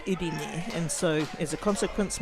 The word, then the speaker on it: Irene: If you use Māori vowels, it looks like Irene, but actually said Irene.